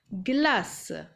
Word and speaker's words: glace: Glace. Il y a un e cette fois-ci après le c et ça se prononce également ce, glace.